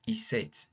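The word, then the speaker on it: isset: wanted to talk about iset iset is a function it's spelled iset iset it's just like saying is is set is something set okay has it been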